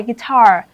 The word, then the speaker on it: guitar: Đáp án B, âm thứ hai, guitar.